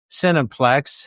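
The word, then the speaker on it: cineplex: So if you go into the s cinniplex heavy emphasis on the phonetic sin there it's they spell it c i n but really it's s i n.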